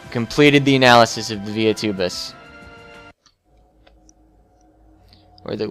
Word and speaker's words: Via Tubus: Alright, completed the analysis of the Via Tubus. Or the Via Tubus. Because Via, it's Latin, and so you should pronounce the V like W.